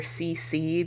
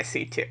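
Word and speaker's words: C.C.: up encountering this woman situ and I know that some people call her CC because that's how it's spelled but in the english dub which is all i've seen she goes by c2 so that's a lot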